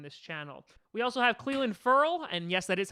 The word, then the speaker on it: Clelin Ferrell: We also have Clelin Ferrell, and yes, that is how I say his name because I looked it up a whole bunch of times.